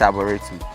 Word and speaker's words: Arboretum: Am I pronouncing it well? Yeah, it's Arboretum.